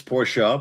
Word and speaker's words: Porsche: Is it Same thing with Porsche. It's Porsche but everyone says Porsche Porsche Porsche, you know what I mean? Who's going to really say Porsche?